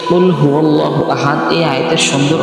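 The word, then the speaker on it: قُلْ: একদম শেষে আছে যে সূরাতুল ইখলাস যেটাকে অনেকে কুলহু আল্লাহ সূরা নামেও চিনে থাকে তো এই যে সূরাটা আছে এই সূরার একবারে প্রথম আয়াতটি হলো যে কুলহু আল্লাহু আহাদ তো এই যে কুলহু আল্লাহু আহাদ এই আয়াতের সুন্দর অর্থ হলো যে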